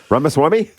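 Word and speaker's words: Ramaswamy: nailed yep uh Rama swamy Rama swam Swami Rama Swami yeah you didn't actually know the first name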